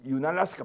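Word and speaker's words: Unalaska: 하면 알래스카에 있는 윤알래스카, 알래스카에 UN을 붙여요. 은알래스카 이 발음, 윤알래스카 발음이에요.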